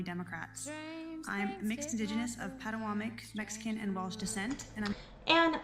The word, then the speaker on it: Patawomeck: I'm mixed indigenous of Patawomeck, Mexican, and Welsh descent, And mind you guys, she cannot say Patawomeck right, it's Patawomeck. That's itself evident she's not